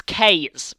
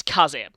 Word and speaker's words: Kaze: Also, yeah, please don't pronounce this as K's. It's Kaze.